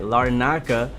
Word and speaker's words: Larnaca: la la la naca gotta say it right larnaca uh cypress which i'll show you guys on